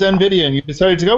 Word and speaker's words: NVIDIA: NVIDIA, how do you pronounce it, Alan? I believe it's NVIDIA, and you decided to go with that one.